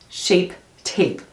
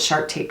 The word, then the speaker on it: Shape Tape: cannot do it Tarte shape tape I always call it shark tape tape I don't know